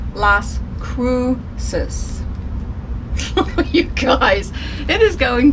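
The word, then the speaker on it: Las Cruces: It sold for $8.07, and it is going to La Crucis. Oh my goodness, that's not how you say it.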